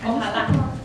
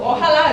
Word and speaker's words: Ojalá: Okay, I'm not gonna say the word because I'm gonna say it completely wrong, but I'm just gonna spell it. So it's O-J-A-L-A. Ojalá.